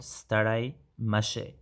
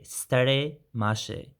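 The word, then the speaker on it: ستړی مه شې: So be careful to the starai with an r sound, starai mashe. So if you want to say this staraimashi to a male person, then it remains the same. So staraimashi with an I sound at the end of starai. Yeah? If we say this to a female person, then we say stare mashe. So the stare with an A sound.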